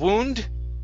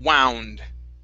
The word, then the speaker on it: wound: Instead of wound, okay, it's an ow sound. Wound.